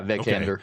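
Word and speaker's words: Vikander: Vicander.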